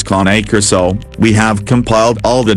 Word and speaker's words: Cane Corso: Caucasian Ovcharka, and a Cane Corso, phonetically pronounced as KAH-NAY KOR-SO, we have compiled all the detailed information you need to know to help you make the best choice.